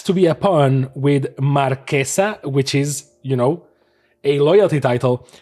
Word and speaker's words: Marchesa: So that's why I'm going to pronounce her as Marquesa and never Marchesa, because Marchesa sounds just like, what's she doing? Marching?